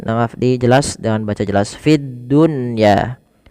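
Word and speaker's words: فِي الدُّنْيَا: Fiddunya tidak dibaca fidduya tapi fid dunya.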